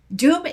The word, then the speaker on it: Dume: Dume is spelled D U M E, which I think some people are on like the beach.